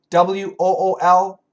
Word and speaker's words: wool: W-H-O-L-E, whole. W-O-O-L, wool. Whole, wool.